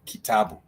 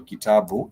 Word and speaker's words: kitabu: It has the key, the ta, and the bu, the key, the ta, and the bu. So those are 3 syllables. The key, the ta, and the bu. And those three syllables, they have alternating vowel sounds. So the ki has a vowel E, the ta has a vowel A, and the bu has the vowel U.